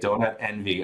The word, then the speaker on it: DonutNV: this how do you how do you say this we usually just say say it out loud and they say donut Envy okay I get it